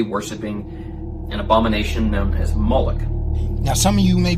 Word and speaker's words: Moloch: The MLK is vocalized as Moloch, or Moloch, in the Masoretic texts, which is an authoritative text in Rabbinic Judaism.